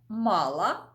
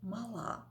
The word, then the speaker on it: мала: вам ось такий приклад слово мала і те саме слово тільки наголос на останньому складі мала такі мала мала це дієслово то щось у людини